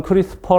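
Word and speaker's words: CRISPR: 보시면 프리 스토어 예 여기 발음은 크리스 퍼 라고 하는데 이 2 알파벳 e 는 없습니다 약어로 구성되어 있기 때문인데 이거 기억하기 시기가 힘든데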